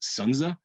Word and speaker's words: Sun Tzu: The name is actually pronounced Sunza.